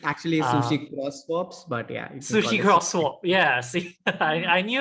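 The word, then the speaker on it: SushiXSwap: uh one of your latest products which is Sushi egg swap I'm not sure if I'm pronouncing correctly hopefully I am but it's actually essentially swaps but yeah Sushi crosswalk yeah see I I knew I wasn't getting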